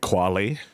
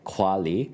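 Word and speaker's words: Qualley: the plot follows of it's Margaret quy sorry Demi Moore Margaret quali and Dennis quad Dennis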